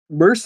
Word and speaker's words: Merced: Isabella Merced?